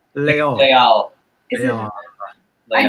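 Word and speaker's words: Les Halles: Deniz El Ghazi says Les Hall is pronounced Leol.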